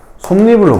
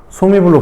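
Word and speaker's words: 솜이불: 이거 어떻게 발음해? 소미불? 아니지. 솜니불로 발음을 하잖아. 이 니은 어디서 온 거야? 소미불로 발음하지 않겠다, 연음하지 않겠다라는 의지가 숨어든 거예요.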